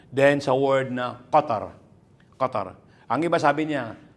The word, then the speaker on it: Qatar: So sasabihin nila na ga gatar sabi marinig mo iba sabi ng gatar gatar gum gum instead na qatar pino-pronounce sila ng gatar gain gatar yun sa ano nila yun sa local na pagsasalita okay pero dito tayo